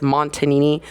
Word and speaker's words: Montagnini: It's Montagnini. It's spelled Montagnini.